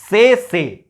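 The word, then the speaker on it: tsetse: इसको हम लोग बोलेंगे क्या? से। क्या बोलेंगे? इसका जो प्रोनाउंसिएशन होता है वो होता है से मक्खी से फैलता है।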